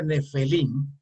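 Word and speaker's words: Nefilim: Bien, estos gigantes que en la Torah se pronuncia Nefelim, ¿verdad?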